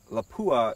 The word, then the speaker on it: Lapua: my last test with the 338 against armor lapua is the correct pronunciation anyways i've got some 300 grain boat